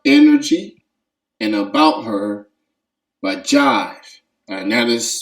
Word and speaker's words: Jhyve: and about her by jive and that is spelled j h y v e um it's pronounced jive as in the record